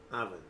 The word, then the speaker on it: oven: اگرچه که لغت با او شروع میشه اما تلفظ او هست، یعنی که او را اوون نمیگه، oven. اوکی؟ تلفظ او است، oven. و فشار صدا هم سر می اول است، oven.